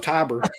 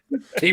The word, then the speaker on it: Tibor: No, it was Tiber. Tibor. Tibor. Tibor. No, we asked Felcher because Felcher interviewed him. Like, how the hell do you pronounce this dude's name? And I remember he said it was Tibor.